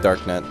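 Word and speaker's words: Darknut: I think it's pronounced dark nut, but so what we want to do with this guy is you can do one of two things.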